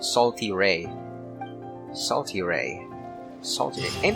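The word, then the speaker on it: Sal Terrae: So that's how you pronounce it. It's called Salty Ray.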